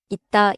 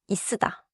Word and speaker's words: 있다: here is my mistake so for 있다 I should not stretch it out like다 맞아요 있다 is not stretched like 있으다 끝침은 짧게 닫아서 발음해요.